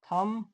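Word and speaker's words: thumb: तो जब एम के बाद बी आए आया हो तो बी साइलेंट होता है। जैसे कोम डम थम बम इसमें एम के बाद बी आया है तो बी साइलेंट रहेगा।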